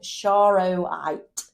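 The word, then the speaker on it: charoite: come across and this is a piece of shro white and it is spelled c h a r o i t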